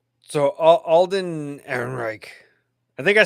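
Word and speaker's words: Alden Ehrenreich: All right, so Alden Aaron Reich, I think I said it right.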